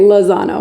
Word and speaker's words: Lozano: how do you pronounce your last name so I don't say it? Lozano. Lozano.